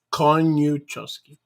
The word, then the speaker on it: Koniuchowski: My name is three or four syllables. Meu nome são só 4 sílabas. Koniuchowski. Koniuchowski. 3 syllables. It looks intimidating, but it's easy to say.